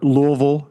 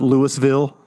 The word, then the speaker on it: Louisville: Or Louisville, not Lewisville.